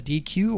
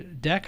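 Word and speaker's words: deque: built-in python data structure called a dq or a deck i think it's dq as the pronunciation basically it's a q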